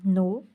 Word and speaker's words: know: तो इससे अगर हम वर्ड बनाएं तो जैसे हम बनाएं नो, KNOW, नो, एंड नी, KNW, नी। हम इसको किनी नहीं बोलते और इसको केनाव नहीं बोलते, ये नाव और ये नी होता है।